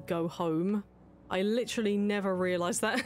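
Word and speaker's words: Goho-M: Because I was pronouncing the item as go-ho-em when it was actually supposed to be go-home.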